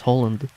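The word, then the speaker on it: Haaland: Well, there was also a football player in the Norwegian team called, yeah, it's basically pronounced exactly the same as Holland.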